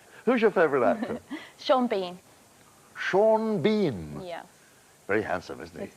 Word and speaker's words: Sean Bean: it shawn and then he pronounces it bean and it's both why isn't he seen